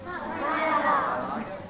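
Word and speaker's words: Málaga: his birthplace in Malaga did I say it correctly Malaga okay the second part of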